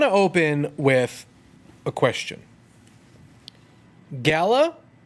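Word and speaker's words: Galar: open with a question Galla or gal our gal our owl our if you listen to the trailer over and over and over again make the R is silent no it's not life is crazy you're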